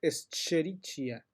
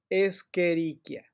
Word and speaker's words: Escherichia: y que les dice escherichia nada eso huyan de esa gente ok se llama escherichia porque es latín y la ch se pronuncia como si fuera una c escherichia coli es la